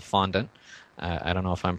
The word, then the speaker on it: fondant: a b candy called fondant i don't know if i'm pronouncing that correctly i think it's a french word it's probably fondon or something like that uh in the native pronunciation but anyway f-o-n-d-a-n-t and